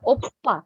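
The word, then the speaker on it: 오빠: Oke, tidak ada yang membacanya opa lagi ya. P-nya harus lebih ditekan jadinya oppa.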